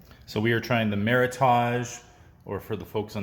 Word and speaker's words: Meritage: Meritage. Interesting. Because I got beat up on the internet. Why? Because I said it that way. And they said it's supposed to, it rhymes with heritage. Meritage?